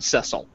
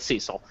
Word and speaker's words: Cecil: here with that name who pronounced his name Cecil as opposed to Cecil. So I don't know. Whatever. Doesn't matter. We're going to go with Cecil.